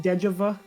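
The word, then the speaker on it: déjà vu: it is giving me a strange sense of deja vu. I've seen something like this before. It's pronounced deja vu. Oh, it's deja vu.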